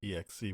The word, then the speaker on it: exe: Okay, episode 6, Danger.exe, exe, which we've all agreed upon, is how you say that.